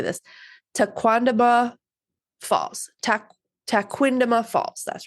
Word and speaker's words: Tequendama: And it's very similar to this, but they pronounce it Tequendama. So if I say Tequendama, it's because I'm going with Tequamanon Falls, but it's Tequendama.